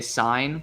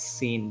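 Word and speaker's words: Cine: When I used to say sign for Lewis, and then everybody's like, "It's scene, bro," and I'm like, "Oh, for the love of God."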